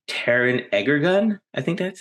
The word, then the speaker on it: Egerton: Taron Egerton. I think that's how you say it. Egerton, yes, from the Kingsman biopic.